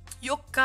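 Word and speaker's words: 四日: Tous les jours en 4, ça se prononcera yokka à la fin.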